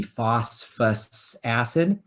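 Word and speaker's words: phosphorous acid: couple of moments ago phosphorus is another element like sulfur where they actually stick an extra syllable in there so it's actually called phosphor us acid right professor yep how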